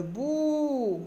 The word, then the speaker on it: bout: Le bout, un seul son. Bout, le bout. Le T est une lettre muette.